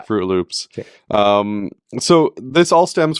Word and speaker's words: Froot Loops: o t yeah yeah it's spelled with fruit like f r o o t fro Loops um so this all